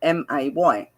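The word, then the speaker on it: athame: It is pronounced Ahtamay, or it's AhthaWmay.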